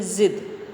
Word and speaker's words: ज़िद: Okay, इसी तरह से ये गाजर, और यहाँ जा पे बिंदी है तो इसको बोलेंगे ज़िद। ओके, जाड़ा, ज़मीन, गाजर, ज़िद, अंतर आ रहा है ना उच्चारण में।